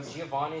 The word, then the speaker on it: Giovani: Realistically, my name should be pronounced Gio Vani cuz it's like Van instead of Van.